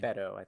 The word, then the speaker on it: Beto: bado bait bait bait Oh what does Hetty pronounce his name Beto Beto we talk about Beto apparently he was